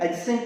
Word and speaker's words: adjacent: उस सब में डी साइलेंट होता है, इनका जो प्रोनाउंसिएशन है सब में डी साइलेंट रहेगा।